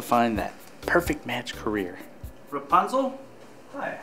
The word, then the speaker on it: Rapunzel: Legend are in even shorter Supply so it's pronounced Rapunzel correct very good some people struggle with my